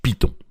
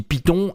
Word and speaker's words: Python: Alors vous noterez aussi que je dis Python et non pas Python. Les deux prononciations sont valables. Évidemment, Python, ça va être la version anglaise et Python, ça va être la version française.